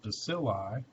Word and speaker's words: bacilli: rod is bacillus again we can pluralize that one by taking the eu loss of us off and putting on an i that would be pronounced bacilli right those have an